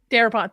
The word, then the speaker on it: Darabont: Director Frank Darabont. Darabont.